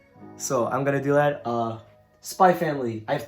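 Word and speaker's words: SPY×FAMILY: She said there's no X. Alright. Okay, bye. Close the door, please. I don't think she wanted to explain the series, so I'm gonna do that. Spy Family.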